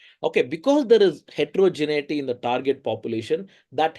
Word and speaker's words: heterogeneity: or there is considerable heterogeneity. Okay, that's the correct way to spell it and pronounce it. Sometimes many people say hetrogenicity for some reason. There is no C there.